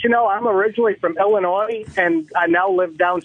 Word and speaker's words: Illinois: I was just calling to let you know I'm originally from Illinois, and I now live down south, and everybody calls it Illinois.